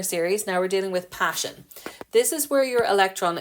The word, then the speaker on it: Paschen: So Paschen, P for passion, not P-A-S-S-I-O-N. It's Paschen, P-A-S-C-H-E-N.